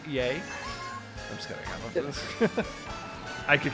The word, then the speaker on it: Ye: on with ye uh it's pronounced yay I'm going out I